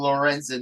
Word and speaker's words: Lorenzen: talking for a couple of days um Michael Lorenzen that's how I pronounce his name correct uh yeah correct Michael